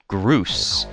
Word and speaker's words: Groose: But they're not saying Bruce, they're saying Groose. G-R-O-O-O-S-S. Which I don't... It's just a nonsense word, but it's pronounced Groose!